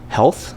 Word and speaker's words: HLTH: And so, for example, there's I consider it to be the best healthcare innovation conference of the year called Health. It's spelled HLTH.